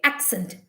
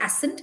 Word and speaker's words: accent: e n t okay accent but we do not say ascent we say accent it sounds like a